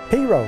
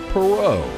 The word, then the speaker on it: Perot: Ross perau but that's not how his daddy pronounced the name pero cornrow cotton r p just so you get your pronunciation right the Naval Academy would later Rebrand the family name for Ross Jr to the proper French pronunciation of perau but that would never